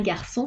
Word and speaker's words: garçon: Un C cédille se prononce S, comme la lettre S. Sa, so, su. Exemple, un garçon français.